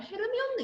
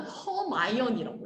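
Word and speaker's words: Hermione: 실제로 조앤이 이렇게 프랑스어를 익히고 난 다음에 해리포터에 나오는 헤르미온느 있잖아. 이 헤르미온느의 이름은 프랑스어에서 따온 거야. 프랑스어 이름에서 많이 나왔지. 한줄 읽으면 영어로는 허마이언이라고 읽어. 헤르미온느라고 읽잖아.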